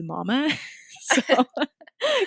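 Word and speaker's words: Momma: time was margaretta mama i think it's pronounced mama it's m-o-m-m-a so margarita mama who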